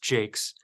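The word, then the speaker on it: Jacques: uh Joe Jake's j-c-q-u-e-s they announced it apparently is pronounced Jake's from the pirate system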